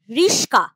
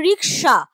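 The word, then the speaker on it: রিকশা: যেমন প্রথম যেটা বললাম আসলে শব্দটা ছিল রিক্সা তার থেকে উচ্চারণে হয়ে যাচ্ছে রিস্কা আসল শব্দটা ছিল ছিল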